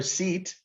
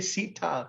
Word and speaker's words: Sita: like we never say nobody ever says rod they say rada or sit they always say sita because it's a long ace so in india just